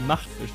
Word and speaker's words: MachtFISCH: Like, the German way would be MachtFISCH with the soft CH, but okay.